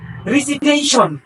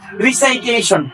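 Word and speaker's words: recitation: টি আই ও এন এটার শুদ্ধ উচ্চারণ হলো রিসিটেশন শুদ্ধ উচ্চারণ রিসিটেশন কিন্তু আমরা সবাই মোটামুটি বলেছেন রিসাইটেশন রিসাইটেশন ভুল রিসাইটেশন আজকের পর থেকে বলা যাবে না এটাকে বলতে হবে যে রেসিটেশন এই রেসিটেশন অর্থাৎ যখন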